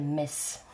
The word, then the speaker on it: Metz: Je suis actuellement en vacances dans le Grand Est, dans une ville qui s'appelle Metz. Bon, le T ne se prononce pas.